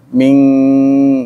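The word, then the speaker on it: مِنْ: Min nun mati dari sisi tajwid ya, bertemu dengan qaf itu namanya ikhfa ab'ad, bacanya eng, ming ya. Jadi kalau ketemu dengan qaf dan kaf itu ciri ikhfa ab'ad, ikhfa jauh. An-nya berganti dengan eng, ming gitu.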